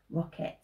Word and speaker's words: rocket: Now that E kind of makes a funny sound, doesn't it? Really, you want it to be an I, but rocket.